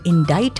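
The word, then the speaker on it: indict: और एक्चुअली डीआईसीटी था लेकिन उनका उसका प्रोनंसिएशन इनडाइट है। जबकि आप अगर फिनेटिक्स में देखोगे तो आई का प्रोनंसिएशन ई है लेकिन आई भी होता है। वहां पे आई का प्रोनंसिएशन आई है और सी साइलेंट है।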